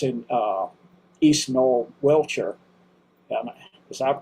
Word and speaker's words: Wiltshire: It's in uh East Null Wiltshire and is that correct? Probably not. Wiltshire.